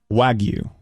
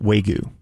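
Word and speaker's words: wagyu: drop telling them that it's pronounced wagu not Wu oh God there's three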